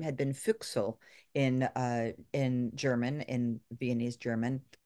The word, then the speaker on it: Füchsel: So the name was changed to Füchsel. And it's pronounced in a way that sounds very French also.